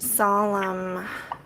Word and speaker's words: solemn: only one l and it's a word that has a silent letter in it there's an n and where does that occur um after the m so yes so how